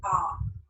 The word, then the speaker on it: hour: For example, when we don't say our, we say R. H is silent.